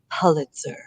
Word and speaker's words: Pulitzer: Before the show, we discussed for 5 minutes whether it was Pulitzer or Pulitzer, and we asked Miss Google, who said Pulitzer.